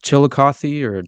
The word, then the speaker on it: Chillicothe: It was Chillicothe, I believe is how you pronounce it, is the name of the correctional institution.